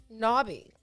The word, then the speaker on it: knobby: the day is nabi knobby n-o-b-b-y it's an english word first used in 1788 it's an adjective it's pronounced knobby you know not yeah